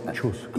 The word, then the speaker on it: Kościuszko: Kościuszko.